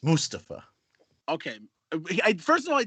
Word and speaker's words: Mustafa: his thing you know he insists you and pronounce his name correctly it's mustafa okay first of all i didn't know he